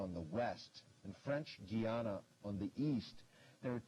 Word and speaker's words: Guyana: I said between Venezuela and French Gana uh there are two countries on the north coast of South America. Who which are they? And it's Gana. Some might pronounce it Guyana and Thurin.